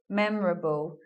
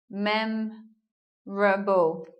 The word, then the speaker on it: memorable: and looking lastly at this word memorable memorable we're not hearing an O here mem Rumble so goodbye oh and then we make